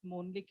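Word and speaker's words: Mölnlycke: uh talking about the company so company is pronounced as mon although it is um written as m o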